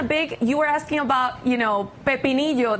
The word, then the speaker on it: pepinillo: So he is in a big, you were asking about, pepinillo, that's how you say it in Spanish, the pickle.